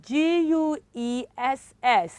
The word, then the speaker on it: guess: jitter guitar okay um g-u-e-s-s is guess is what children guess okay and the last